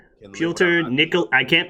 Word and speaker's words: Pyotr: you pronounce his name uh pielter it's peter but russian hence the peter in quotes pulter nickel i can't pronounce